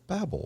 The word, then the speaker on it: Babel: of shinar known as the tower of babel or babel depending on how you want to pronounce it but after the confusion